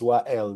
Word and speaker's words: Wael: Again, my name is WA El, Mark. It's spelled W A E L.